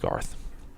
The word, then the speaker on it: Gareth: But no, Gareth, right? It's pronounced Garth.